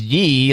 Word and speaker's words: Ye: Yeah, there's while some fans thought the name might be spoken as Ye, like Yeezy, reports say that the name is pronounced Ye, like Kanye.